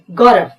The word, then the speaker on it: गौरव: व के लिए आपको बताया था कि अगर उच्चारण करते समय मुंह गोल होता हो तो W लिखना है, पर यह है गौरव, व सिंपल है, V लिखेंगे।